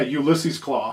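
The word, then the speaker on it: Ulysses Klaue: you pronounce it yeah Ulysses claw I pronounced it right uh Andy Circus like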